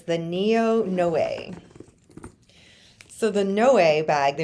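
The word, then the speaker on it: Noé: It's hard to pronounce. Everyone says now. It's the NEO.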